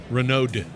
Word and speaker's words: Renaud: You pronounced it great. Did I? Yeah. It has a D in the end. It does. Renaud.